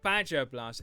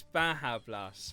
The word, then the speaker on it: Baja Blast: So when you do Badger Blast, it's not Badger Blast, it's Baja Blast, which is Behemoth, or Bahamut as people call it.